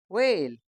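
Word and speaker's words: whale: एच ए एल ई व्हेल इसमें H silent है और ए भी यह हम डब्ल्यूए फैमिली में देख चुके हैं तो इसको हम क्या पढ़ते हैं व्हेल आर ए जी ई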